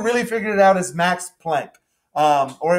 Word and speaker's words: Planck: figured it out is max planck um or it might be pronounced plonk uh he's german um